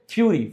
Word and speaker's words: fury: फ्यूरी, फरी और फ्यूरी दोनों पढ़ सकते हैं, हालांकि FURRY को फरी पढ़ते हैं, FURY को फ्यूरी, पर अमेरिकन ब्रिटिश इंग्लिश में उच्चारण अलग अलग होता है, तो आप इसको फ्यूरी और कभी कभी फरी भी पढ़ सकते हैं।